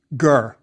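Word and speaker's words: gr: You have the pronunciation. Ger.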